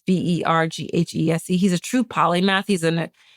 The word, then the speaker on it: Verghese: I remember mispronouncing it, Verghese. It's Verghese.